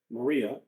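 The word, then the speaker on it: Marya: Sen Mud Maria, which is spelled with a Y. M A R Y A. Maria um you know, whatever.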